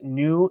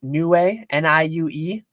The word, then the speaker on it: Niue: So for anyone who knows, I believe it's pronounced Niue, Niue.